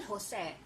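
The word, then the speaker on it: José: J will become H. Okay, like for example, Jose. Jose pronounced as still Jose.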